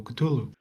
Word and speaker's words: Cthulhu: of strange coutulu for reference it is not even the proper or right pronunciation. Nobody knows how to pronounce it. The internet collectively just say let's call it coutulu but canonically you cannot pronounce the name.